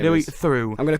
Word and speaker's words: Theroux: Is it Theroux? Theroux. They say his name a lot. It's Theroux.